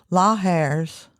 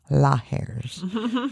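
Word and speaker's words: lahars: La hairs, which I also phonetically spelled out, Laairs. Lahers formed when hot rocks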